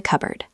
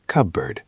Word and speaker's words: cupboard: I am taking a mug from the cupboard. I'm taking a mug from the cupboard. Notice the pronunciation of cupboard. It is not cupboard. It is cubird.